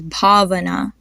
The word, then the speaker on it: Bhavana: Then another name is Bhavana. This is a pretty good example. You can hear how BA and BHA are pretty different.